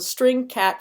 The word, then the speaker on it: strcat: start with Str Str so it's easier to pronounce that as string even though it's St Str so the string cat function is the string concatenation concatenation function it